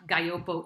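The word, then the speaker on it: Gaglioppo: it's kind of like a silent double g and i have to say it's a grape it's the grape of compagna i'm sorry calabria um so just as sanjivse is to tuscany as nebiolo is to piedmont guyopo is to calabria that is the the iconic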